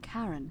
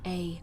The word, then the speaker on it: Charon: It's just as you described it, only your pronunciation is a little off. The name you heard wasn't Karen. Oh, right. Charon.